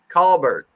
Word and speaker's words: Colbert: like way back when I said Colbert and they're like no no it's call Colbert right call that's funny all